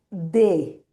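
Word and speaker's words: des: Obviamente la S no suena, entonces va a ser D.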